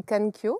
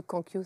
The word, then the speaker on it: Kankyo: Alors certains disent Kankyo, Kankyo. Oui, comme Comment est-ce vous qu'on voulez. prononce? Normalement, c'est Kankyo. Ah, Kankyo. Kankyo, voilà. C'est Mais ça. Kankyo, ça va aussi, hein.